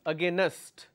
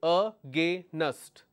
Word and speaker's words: against: uh against only two but people make mistake ah gay nest Oh gay nest this is where the problem occurs because you are making a mistake you are adding one extra syllable so this syllable is